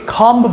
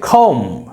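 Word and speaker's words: comb: মজাদার number four কম এটা আমরা ভুল করে অনেকে কম বলি fast of অল we have to remember B is silent in this word beta কিন্তু এখানে সাইলেন্ট লেটার সো আমরা যখন আইপিএস সিম্বল দেখব এটা কিন্তু হয়ে যাচ্ছে খম ও মম খম মানে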